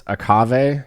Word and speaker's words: Aave: Aave. A like Agave with a K.